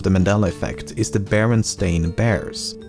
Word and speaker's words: Berenstain: First of all, I actually had to re-record this segment multiple times as I found myself pronouncing it Berenstein even when I should be saying Berenstain, and I've never even heard of the franchise before making this video.